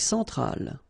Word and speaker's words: centrale: Centrale, remember, E-N, nasal, so it goes in your nose.